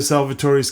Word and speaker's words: Salvatore: YouTube fans how you going man welcome to salvator's Kitchen all right today we're going to do